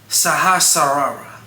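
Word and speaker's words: Sahasrara: in at number seven we got the crown chakra which is better pronounced the saharara the location is the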